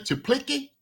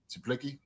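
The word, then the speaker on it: Czaplicki: Is it Chuplicki? It's spelled spelled C Z A P L I C K I. So I think Chuplicki. Chuplicki.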